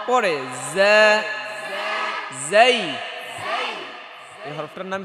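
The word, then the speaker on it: زاي: র র র পরে জাই এই হরফটার নাম কি জাই ধরেন উচ্চারণ করেন জা জা জা বাতাস বের হবে নাকি জা জা জা জা জা জা জা জিজি পোকার মতো একটা আওয়াজ হবে কেমন জা জা জা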